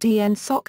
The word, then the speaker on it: NSAWC: NSAWC, pronounced ENSOC in Western Nevada.